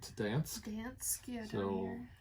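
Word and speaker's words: Gdańsk: Ostersund here to, and I think the G is silent, to Dansk.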